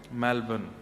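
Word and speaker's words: Melbourne: करेंगे कहां रहते हैं मेलबर्न हमारे एक भैया बोले मेलबर्न जो मैल को जला दे मेलबर्न मैंने कहा नहीं मेलबर्न र जो है वो साइलेंट बोलो तो लेकिन हुआ क्या यहां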